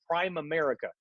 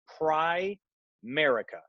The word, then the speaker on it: Primerica: Okay, a lot of people make a mistake and they call it Prime America. It's not that. Okay, nothing smells like rookie like mispronouncing the name, right? So it's Primerica, Primerica, just like that.